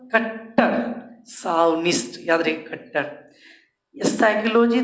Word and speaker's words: psychology: अगर कोई पूछ दे साइकोलॉजी का तो जानते हैं PSYCHOLOGY, साइकोलॉजी मतलब मनोविज्ञान, साइकोलॉजी, साइकोलॉजी मनोविज्ञान, साइकोलॉजी, साइकोलॉजी उच्चारण देख रहे हैं, साइकोलॉजी मतलब मनोविज्ञान। याद रखिएगा पी से स्टार्ट होता है, PSYCHOLOGY।